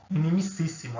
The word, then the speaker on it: inimicíssimo: Inimicíssimo a pronúncia, né?